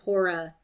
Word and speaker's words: Hora: Or is it rather that Hora, as now they call her, the first syllable pronounced long, being a kind of an active and busy goddess, very circumspect and careful.